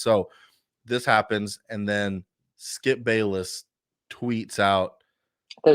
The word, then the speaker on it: Bayless: So this happens, and then Skip Bayless tweets out, I thought it was Skip Bales. huh? I thought it was Skip Bales. Pretty sure it's Skip Bayless.